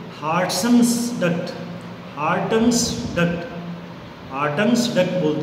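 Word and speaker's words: Wharton's duct: है, उसको बोलते हैं हार्टन्स डक्ट, हार्टन्स डक्ट, हार्टन्स डक्ट बोलते हैं उसको। W इसमें साइलेंट है, WHARTON अपोस्ट्रोफी S, नी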